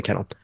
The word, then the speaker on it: Cannell: Wood and headlined by Jenna Cannell. That's how you pronounce her name.